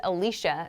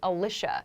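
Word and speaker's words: Alisha: It's spelled A-L-I-S-H-A. I pronounce it Alicia. Some people might choose to pronounce it Alicia.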